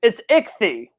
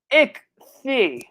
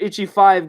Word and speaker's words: Ichthy: It's like it's Ichthys. If it's like again, like let's take out the 5. It's Ichthy. Ichthy. It's like I don't know how the heck did Itchy 5 got into it, but again, I'm not